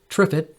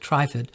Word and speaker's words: Trifid: tripod nebula also known as mezzie a20 some pronounce it TripIt but I pronounce it trifid is one of the most beautiful deep space